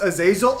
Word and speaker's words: Azazel: Yes, it's pronounced Azazel.